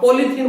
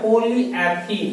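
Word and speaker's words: polyethene: तो इजीली सबसे पहले जो बेसिक पे अपने यूज होती है एक चीज सुना होगा तुमने, आप पॉलीथीन बोलते हो, जबकि उसका सही प्रोनाउंसिएशन क्या, पॉलीएथीन है।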